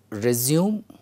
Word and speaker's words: resume: The next pair of words, I said, I will not pronounce previously. The words are resume and resume.